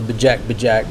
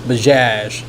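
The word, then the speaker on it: Bajaj: What uh what I've also considered is that Bash I call it the Bejac Bjac, but that's not how you pronounce it. It's Baz B A J A J.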